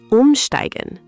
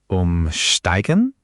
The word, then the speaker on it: Umsteigen: Umsteigen means to transfer or change trains. This one saved me so many times when I was learning to navigate Berlin. Umsteigen. Umsteigen?